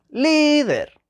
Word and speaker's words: líder: vamos a ver líder líder es una palabra llana la sílaba tónica se lee líder y esa palabra termina